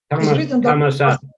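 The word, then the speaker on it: ธรรมศาสตร์: То есть, если посмотреть, вот есть у них университет Dharma Shastra, Dharma Sat, но написано на Dharma Shastra, но произносится как, but pronunciation is Dharma Sat. Dhamma Sat.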